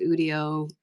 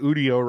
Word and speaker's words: Udio: I was like, "Okay, is it Udio? Is it audio without the a? Like, how do you pronounce it?" And he said Thank you. internally, everybody at the company calls it Udio. So literally everybody I've heard talking about it so far has been saying it wrong, but at the company they call it Udio.